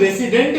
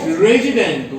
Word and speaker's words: resident: हम लोग रेसिडेंट नहीं बोलते हैं। क्या बोलना चाहिए? रेजिडेंट।